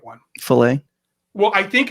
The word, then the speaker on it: Faile: This one is spelled Faile. Filet. So I nailed it, didn't I? What I love is that Steve is trying, because it was always fail to me.